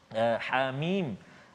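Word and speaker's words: حم: Hidupkan ha 2 harakat. Hamim. Macam tu cara baca dia.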